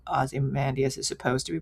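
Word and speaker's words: Ozymandias: I always liked it more than than how Aussie Mandas is supposed to be pronounced, but so I prefer Ozen Dias.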